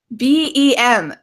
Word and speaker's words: bem: So if we look at your position of your mouth, right, you go BEM, because in English, M, we close our mouth. Mm. However, my dear friend, in Portuguese, it's tudo bem.